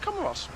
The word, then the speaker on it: Comoros: And I asked someone, is it pronounced Comoro or Comoros? He said Comoros.